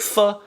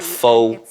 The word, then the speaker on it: pho: Niece and nephew, Uncle Roger's so close to 6 million subscribers now, and when Uncle Roger hits 6 million, I'm gonna make pho, so hit subscribe.